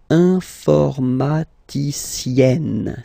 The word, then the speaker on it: informaticienne: And then, if you look carefully, then here, okay, you will have to double the N. And then add this final E, okay? And you get the sound informaticienne, sienne.